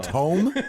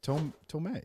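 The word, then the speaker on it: Thome: Jim Tome? Isn't that? Yeah, Tomei. I don't. Tomei. It's Jim Tomei.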